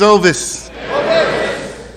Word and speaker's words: Ovis: everybody I'm in the addict my name is ois I know I got that unusual name I usually have to spell it for people cuz they'll call me ois I got family members that's been calling me Otis All My Life um you know it's an